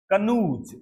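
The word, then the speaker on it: canoes: नाम आएंगे, देखो जगह समझ लो, इन कनूज, कनूज उच्चारण क्या है, कनूज, कनूज, कन्नू, कन्नू, कनू क्या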